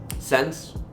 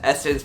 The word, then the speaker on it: SSENSE: Sense, you know, sense maybe. But when I recently found out it was pronounced as Essence, my mind was instantly blown.